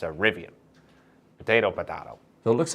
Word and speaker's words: Rivian: speak too much English and just call it rivian so I need to say rivian from now on okay you know there were